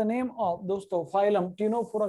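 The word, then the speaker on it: Ctenophora: सी is silent here, phylum टीनोफोरा।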